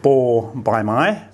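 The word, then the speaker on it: บ ใบไม้: It's called bo by mai, means leaf, and as an initial consonant, it makes a B sound, and as a final consonant, it makes a P sound.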